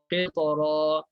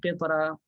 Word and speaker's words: qitara: Jadi bacanya tebal, qitara. Jangan tipis, qitara. Tak boleh tipis.